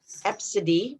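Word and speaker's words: Abcde: heard the weirdest one for me is absidine absidy but it's spelled a b c d e i'm not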